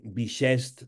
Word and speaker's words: bixest: I així on volíem aplicar justament un any de traspàs, o any bixest, també es pronuncia com clixé o guixer, o any bisextil.